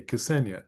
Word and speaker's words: Cassenia: Now, I gave or I sent an outline um to is it Cassinia? How do you how do you pronounce your name? Cass, you pronounce the K. Cassenia.